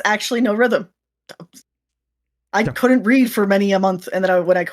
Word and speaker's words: Norythum: it to thumb but if you actually just read the U like it's supposed to be read then you get no rhythm because it's not a